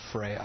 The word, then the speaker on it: Freya: that how you say it Carl it's actually pronounced Beaker and my band is called Freya Freya Freya okay well Carl let me start with